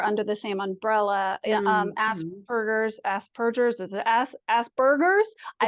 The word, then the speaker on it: Asperger: Aspergers, is it Aspergers? I It's don't know. P. It's P. Aspergers and As per autism. per, as in like a cat purr.